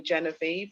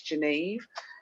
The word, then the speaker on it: Geneve: say my name anyway they always used to call me genevieve and it's not it's geneve so i just shortened